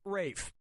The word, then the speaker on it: Ralph: yourself yep ray Fiennes first name is spelled like Ralph but pronounced Rafe and his brother Joseph